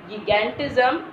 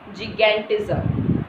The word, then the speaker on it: gigantism: What is the pronunciation here? It is not gigantism, it is gigantism. Okay, gigantism.